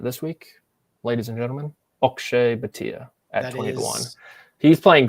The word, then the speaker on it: Akshay: Someone tweeted at me once saying it's actually pronounced Akshay.